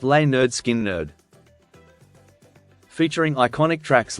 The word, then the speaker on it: Lynyrd Skynyrd: and produced their debut album pronounced L nerd skin nerd featuring iconic tracks like